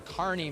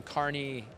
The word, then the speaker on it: Kearney: Lawn and Tree in Kearney, Missouri. Did I say it right? You did. You got it. We have a Rambler, Kristen, from Kearney, Nebraska. Yep. So there's same pronunciation.